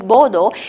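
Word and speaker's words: boudoir: displayed in my bordeaux border b-o-u-d-o-i-r it's pronounced as bodo it means the private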